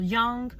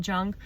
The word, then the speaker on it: Jung: off with talking about Carl Young or Carl Jung however you want to pronounce it I'm pretty sure it's Carl Jung um he's a psychoanalyst